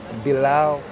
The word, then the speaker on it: Bilal: How you pronounce it though? Bilal.